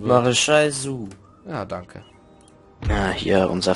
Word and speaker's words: Soult: Und der Gaiman hat Marechal Soult, wie auch immer der ausgesprochen wird. Maréchal Soult.